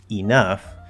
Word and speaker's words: enough: in both syllables, but you stress the second one, it will sound perfectly fine. Enough. Enough. Now again, that first syllable is going to tend maybe towards The second syllable is going to tend towards like in cut.